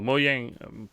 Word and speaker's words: Mojang: or is that just Mojang no mo yang Mojang oh yeah however you want to pronounce it is the Minecraft